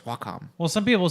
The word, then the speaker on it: Wacom: Which I only recently learned how to pronounce that. Is a Wacom? It's Wacom. It's a Japanese company.